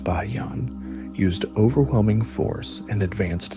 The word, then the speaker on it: Bayan: Generals like Bayan, pronounced Bayan, used overwhelming force and advanced siege techniques to slowly erode the Song defenses.